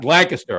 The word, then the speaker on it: Lancaster: Turkey Hill's from Lancaster. Just Oh, you almost said it right. Lancaster. I stopped. There you Lancaster. go. You stopped yourself.